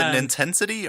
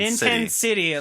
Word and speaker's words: Nintensity: But anyway, Nintendo City. Nintensity, however you want to pronounce it, but just remember that it's a C and not an S.